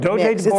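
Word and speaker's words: Dogue de Bordeaux: he's a um oh how do you say this buff do de Boro mix do Deo do de Bordeaux sounds like wine but he's really a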